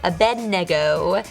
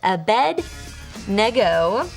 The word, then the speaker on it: Abednego: Abednego. That's how you say it. Abednego.